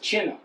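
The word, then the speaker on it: 擒拿: It's China. It's actually pronounced Chinna.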